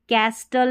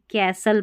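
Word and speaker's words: castle: अब इसको कैस्टल नहीं कैसल पढ़ना है।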